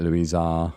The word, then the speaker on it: Louisa: I just say it Louisa.